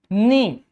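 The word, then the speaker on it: knee: For example, ni. Here the word K is silent.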